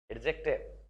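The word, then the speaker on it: adjective: एडजेक्टिव right pronunciation D इज not spoken but एडजेक्टिव।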